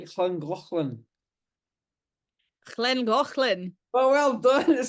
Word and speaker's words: Llangollen: how's your Welsh pronunciation? Can you say Llangollen? Llangollen.